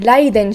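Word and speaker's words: Raiden: booba sword we got laiden shogun and the only way i can say that is another rolling r literally meaning lightning and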